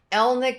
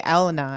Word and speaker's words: Elna: excited to be interviewing Elna did I say that correctly you did you're one of the few who actually said it right oh really yeah most people call me Elena actually so oh well